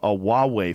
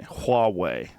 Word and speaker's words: Huawei: it they have a huawei phone I'm saying it wrong apparently people corrected me hallway Wow Huawei is a